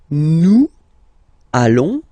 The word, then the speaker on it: allons: and if you, so final S not pronounced, and then if you are purist, and I'm sure you are, you want to make this beautiful and little liaison, so this little link between the words, so it does mean